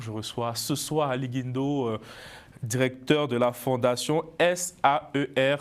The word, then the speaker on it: Guindo: Je reçois ce soir Ali Guindo, directeur de la fondation SAER Group, c'est bien ça? Oui, c'est bien prononcé.